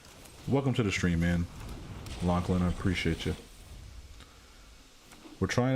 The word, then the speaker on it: Lachlan: black turn to lachlan oh i pronounced it wrong the whole way welcome to the stream man lachlan i appreciate you we're